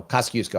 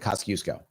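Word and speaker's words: Kościuszko: So, Kasusco, I believe, is how it's pronounced.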